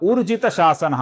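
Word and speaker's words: ऊर्जितशासनः: कुछ लोग यहां पर उर्जित शासनः अर्थात उ ऐसा ह्रस्व उच्चारण करते हैं जो कि गलत है। दोस्तों यहां पर उ दीर्घ है और इसका सही उच्चारण है उर्जित शासना।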